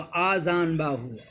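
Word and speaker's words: आजानबाहु: अब दे रहा है अजान बाहु, तो ये सही नहीं होगा, अ पे मात्रा जो होगा आजान बाहु, अजान बाहु, याद रखिएगा, उच्चारण हमारा ध्यान से सुनिए, आजान बाहु, ठीक है।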